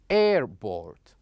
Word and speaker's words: airport: as you can see we going to stress uh air not port for example we would say airboard airport okay and for the second